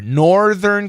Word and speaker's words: Northern: Funky Monkey Northern Southern nor you want to keep that R Northern California Southern it's a